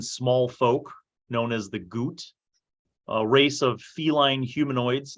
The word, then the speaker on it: Ghuut: Goot is spelled Ghuut.